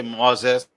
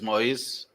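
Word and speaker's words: Moïse: You could say Moses or Moise. Well, Okay. English is Moses, but in French Okay. is Moise.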